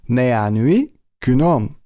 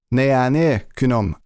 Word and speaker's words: 내안의 그놈: this movie it is nee an UE kunam or nanny kunam I think that sometimes Korean people tend to change the sound to an a s sound so it's easier to pronounce so nee an UE